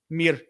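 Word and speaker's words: мир: Mur? Oh, well, maybe that's the way I say it Russian. Mir. What's the Ukrainian way? They don't say mir.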